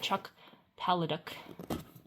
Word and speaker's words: Chuck Palahniuk: So I got Kurt Vonnegut, Murakami, Evelyn Waugh, George Saunders, and Chuck Palahniuk.